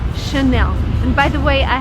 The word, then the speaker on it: Chanel: just behind me and the right way to pronounce it is again in French because it's from friends so the correct way to say this word is Chanel and by the way